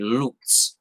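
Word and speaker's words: Luz: It's spelled L-U-Z, Lutz, which in Portuguese or Brazilian means light.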